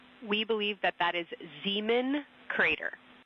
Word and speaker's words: Zeeman: We believe that that is Zeeman crater. Zeeman, okay. Can you say the first letter? I may be pronouncing that wrong.